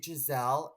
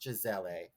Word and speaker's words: Gisele: and I said oh my God are you Giselle and she was getting um people were like cramping her and she's like it's pronounced Gisele and I was like no one knows that